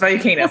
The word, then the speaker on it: Valakinas: You're actually really close. It's Valakinas, so you're very close. So don't worry about it. I've heard every pronunciation of it.